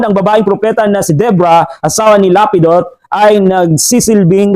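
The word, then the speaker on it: Deborah: iligtas ang Israel ang pangalan po niya ay Debra sa pronunciation natin debora pero sa ang Tamang pronunciation talaga Debra so let's look her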